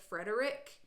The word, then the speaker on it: Frederich: I think he's pronouncing it Frederick, but it's spelled Frederich, so we'll see.